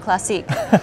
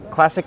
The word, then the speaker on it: Classiq: so I only learned this year that it's pronounced classic and not classique so that was a big learning opportunity for